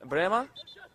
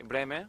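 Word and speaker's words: Brehme: Gianluca Vialli, Emilio Butragueño, Andreas Bremer, I should say Bremer, I got my pronunciation wrong, Jürgen Klinsmann, and Lothar Matthäus.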